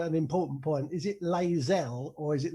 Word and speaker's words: Layzell: So Somersetians say Layzell, like to rhyme with hazel, but yeah. Other people tend to say Layzell.